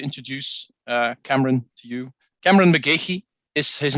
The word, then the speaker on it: McGeachy: Cameron McGeachy is his name, and I just checked the pronunciation with him before we started because I've wondered for a couple of years what the correct pronunciation was. But that it is actually.